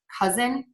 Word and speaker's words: cousin: movement is voicing so when you see again that letter s between two vowel sounds we're going to pronounce it as a z like in the words cousin reason and teasing so those are all